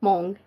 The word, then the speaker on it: Hmong: your ethnicity um I'm Mong and Laos oh Mongolian no no not Mongolian Hmong it's spelled h-m-o-n-g and is that a